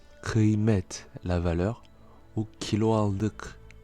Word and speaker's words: kıymet: Le K peut se prononcer de deux façons différentes, soit un K normal, comme dans le mot kilo, kilo, qui signifie kilo comme en français, ou plus guttural, c'est-à-dire plus avec la gorge, si la voyelle qui suit et qui précède est un A ou un I sans point. Alors, on le voit dans l'exemple suivant avec les mots kıymet, kıymet, la valeur, ou